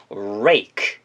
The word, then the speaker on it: rake: 그걸 영어로 rake, rake라고 합니다. 이거를 동사로 쓰여서 긁어 모으다라는 동사까지 파생시켜서 외우시면 좋겠습니다. R 사운드가 맨 앞에 있기 때문에 방금 배웠던 것처럼 입술을 우하게 동그랗게 말아주신 다음 진동을 이용해서 발음하시면 돼요.